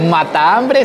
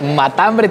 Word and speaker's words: matambre: They're bringing me the matambre, which is not pronounced mata-hambre, but matambre, all together.